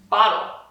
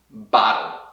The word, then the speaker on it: bottle: Bottle. Bottle. Aqui o clássico flap T do inglês, que nem em português existem palavras como...